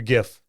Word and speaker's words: giff: Half of them say it with a hard G, half say it with a soft G.